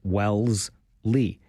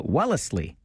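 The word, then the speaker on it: Wellesley: Wellsly. But for the locals, it might actually be three syllables with a little bit of a Wellsley in there.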